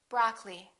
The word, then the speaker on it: broccoli: preference temperature temperature broccoli don't say broccoli say broccoli diamond diamond laboratory don't